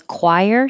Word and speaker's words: choir: dictionary so choir the CH sounds like a c and the oi sounds like an i chir the singing group The Choir sang three songs you do have to round your lips choir and this CH is a